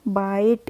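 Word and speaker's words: bite: है बी आई टीई तो बी आई टीई को पढ़ेंगे हम बाइट इसको हम बेटे नहीं पढ़ेंगे क्या पढ़ते हैं हम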